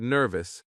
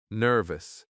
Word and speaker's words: nervous: When we say the word nervous, we stress the first syllable. Nervu. The first part is stronger. Nervous.